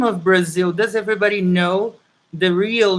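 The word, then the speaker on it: Brasil: brazil and brazilian portuguese is written with an s you know so is b r a s i l brazil and we say brazil brazil okay um brazil has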